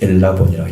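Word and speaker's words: ἔλαβον: 엘라본을 사용했습니다. 그러니까 람바노인데 완전히 바뀌었어요. 엘라본이라고 읽어야 돼요.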